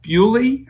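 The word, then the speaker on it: Thybulle: promise were Matisse that bewdley I believe his name is pronounced he he was real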